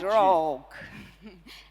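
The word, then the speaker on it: RAWG: Is R-A-W-G. That's called Rogue.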